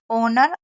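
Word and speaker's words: honour: एक है air, honest, ऑनर, आवर।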